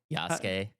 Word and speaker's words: Yasuke: Yasuke.